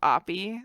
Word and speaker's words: Oppy: middle school and stuff some kids would say it was like uggy woogie or something like that instead of opi like they put oh the different syllables there's all kinds of